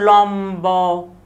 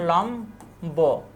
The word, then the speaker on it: লম্ব: দেখো, ব অথবা ময়ের সাথে বফুলার যুক্ত হলে বয়ের উচ্চারণ অবিকৃত থাকে। যেমন লম্ব, এখানে আকার হবে না, এই যে এভাবে হবে উচ্চারণ, লম্ব, বিম্ব প্রভৃতি, বিম্ব, বিম্ব।